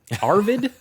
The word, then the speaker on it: Arvid: The FIA has approved Red Bull's super license request for Formula 2 driver, how to pronounce? Arvid? Yes, I was wondering if you had trouble with that one. Arvid Lindblad.